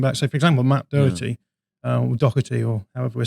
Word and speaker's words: Doherty: There's no C in it. It's Doherty.